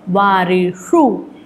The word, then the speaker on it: वारिषु: श का उच्चारण कैसे होता है आपको याद होगा, जहाँ से ट, ठ, ड, ढ, ण बोला जाता है, वहीं से अपनी जिह्वा को जितना पीछे खींच सकते हैं पीछे खींचिए, और वहाँ से फिर श, वारिषु, कर्तृषु, मधुषु, इस प्रकार आपको उसका उच्चारण करना है।